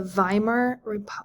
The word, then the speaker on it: Weimar: And then our last term is the Weimar government. Weimar sounds like it starts with the letter V. That's how they say it sort of in German.